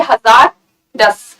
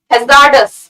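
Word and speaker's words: hazards: भी ध्यान देना होगा एब्स को कई लोग ऐसे पढ़ेंगे हजार दास हजार दास ठीक है तो यहां पर ध्यान देंगे प्रनंसीएशन कैसे पढ़े होंगे हजार्ड्स आर एस किड of silent her आर की आवाज नहीं आई जब हम बोलते हैं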